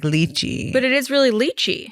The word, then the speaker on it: Lichy: wow yeah wow yeah so it's spelled like you can probably picture it more as a Turkish name with the way it was originally spelled which was l i c I think okay like leachy but it is really